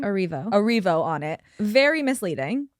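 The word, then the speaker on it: Erivo: Cynthia, how is it pronounced her last name? Arivo.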